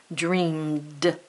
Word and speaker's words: dreamed: practicing that suffix again dreamed sounds like a d but it's spelled e